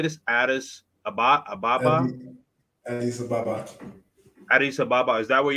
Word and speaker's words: Addis Ababa: Addis, Addis Ababa.